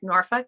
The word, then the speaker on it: Norfolk: on the airplane in Norfolk yes that's how you say it Norfolk a lot of people